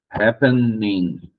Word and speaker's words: happening: E aqui é a mesma coisa. Happening, e não acontece, tá? Consoante, vogal, consoante, duas sílabas, mas a primeira é a mais forte.